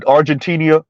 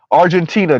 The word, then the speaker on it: Argentina: go to war with argentinia argentinia Argent Z could you pronounce it correctly Argentina Jesus Christ there we